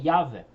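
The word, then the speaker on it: Yahweh: trata do Antigo Testamento a pronúncia correta das quatro letras escritas no texto tem sido o assunto de muitos debates o Consenso dos especialistas a respeito da vocalização correta desse nome é yavé o apoio para esse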